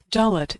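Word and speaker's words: דלת: Dolet is pronounced like the D in door.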